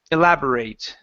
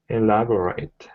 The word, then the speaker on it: elaborate: graduate okay but here this is a verb and so we are going to say elaborate elaborate uhhuh with a long a one more time elaborate